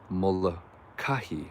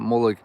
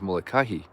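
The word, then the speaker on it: Molokaʻi: that of course is the beautiful island of mola kahi i just learned that that is the right way to pronounce it it's not molek or whatever i was saying it's molokah yep i'm getting i'm getting corrected here and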